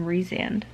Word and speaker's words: Rhysand: Farah and Rhysand.